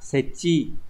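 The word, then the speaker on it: 設置: Từ số 2 đọc là setchi.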